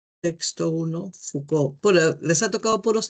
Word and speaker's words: Foucault: Eso se pronuncia Foucault. La o u en francés se lee u y a u o FCO.